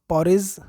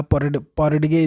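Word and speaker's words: porridge: कहते हैं सून there was अ पॉरिज या पॉरिडगे, जो भी आप ऐसे में पढ़ें, मैं पॉरिज ही पढ़ रहा हूँ इसे डी साइलेंट करके, ठीक है।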